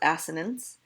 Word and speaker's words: assonance: yes that is asked ha ha ha it's pronounced assonance and consonance okay not consonant consonants so look